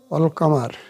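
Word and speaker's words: القمر: কামারিয়া হরফ ওয়াল কামার আল কামার কাফ কামারি হরফ এজন্য লামের উচ্চারণ হল অর্থাৎ ডক্ষ উঠে গেছে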